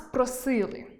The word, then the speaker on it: просили: Перша норма, якої мав дотримуватися мовець, – чітка вимова «и» в наголошеній позиції. «Нас просили». Нагадаю, що в українській мові голосні [у], [і], [а] вимовляємо чітко завжди, а голосні [е], [и], [о] є чіткими в наголошеній позиції, як у слові «просили».